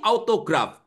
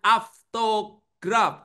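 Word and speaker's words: αὐτόγραφον: Yang betul tuh bacanya aftograf. Oke, ya. Ini dibaca af au ini dibaca af.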